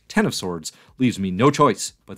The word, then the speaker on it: X of Swords: powers of 10 and X of Swords is pronounced 10 of Swords leaves me no choice